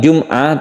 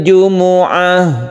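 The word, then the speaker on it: الجمعة: Bighunnah kita panjangkan kemudian hati-hati di kata-kata Jumuah ya Ini bukan Jumat Tapi memenya itu berharakat dhammah jadi membacanya Yaumil Jumuah kita berhenti di sini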